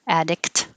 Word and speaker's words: addict: I'm not going to make a k, addict, but hold it there. Addict. And then your tongue holds the T.